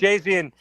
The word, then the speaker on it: Geoghegan: Jill Geoghegan. I always have a hard time saying that. I believe I said it right. Geoghegan, yes, we love you.